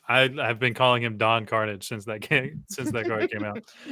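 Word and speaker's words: Don Karnage: His name is not Don Carnage. It's Don Carnage. Don Carnage. So, like, literally everyone, including me, has been pronouncing his name wrong.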